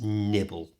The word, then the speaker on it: nibble: Be careful how you pronounce nibble. There are two L sounds in English, and the L in this is made by resting your tongue in the bottom of your mouth with your mouth open,